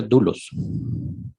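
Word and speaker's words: δοῦλος: la palabra doulos óvulos doulos Pero lo más seguro si se pronuncia dulos pero escriban doulos la palabra dolos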